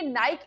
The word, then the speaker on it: Nike: जानते हैं की निक की विच इस एक्चुअली प्रोनाउंस इट इस निक ये कंपनी आई कहां से और इसकी शुरुआत